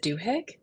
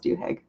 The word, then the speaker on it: Duhigg: Is it Duhigg? Yes, or at least that's how I've been pronouncing it.